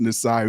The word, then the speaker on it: Nisai: I told her I'm gonna call you Nisi, damn it, because that's how it's spelled, but it's actually pronounced Nisai because she's a makeup artist.